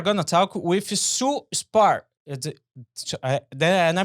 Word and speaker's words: Spahr: And today we are going to talk with Sue Spahr. And I pronounce it correct? That's right. That Sue, silent H throws Sue everybody off. Spahr, yeah.